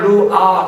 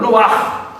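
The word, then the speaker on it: רוּחַ: 성령을 의미하는이 히브 루아 그냥 루아 그러는 것이 아니라 루이 뒤에 된 소리가 있습니다 입속에서 리이 공기를 뱉듯이 소리를 내한 루아 루아 침을 뱉 시켜 너무 과하게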